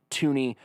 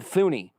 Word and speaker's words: Thuney: talk about joe tooney it's spelled with a th but it is pronounced toony i've cross-referenced this with